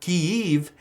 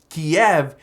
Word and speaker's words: Kyiv: inform you guys that Kyiv is technically the Ukrainian pronunciation of the city, of the capital city. Kiev is the Russian pronunciation.